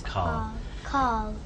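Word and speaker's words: Karl: No, Carl. His name is Carl.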